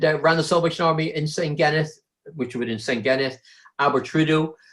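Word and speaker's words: Senghenydd: It's spelled Sengheddd. I said, I haven't got a clue what that is. It was Sengheneth.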